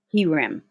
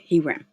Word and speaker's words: herem: whom you completely destroyed he ram yeah that's how you say it he ran okay they were either